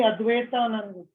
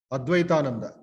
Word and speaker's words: Advaitananda: Pronunciation properly. That fourth name, Sarika Chadu. Swami Advaitanand. Advaitananda.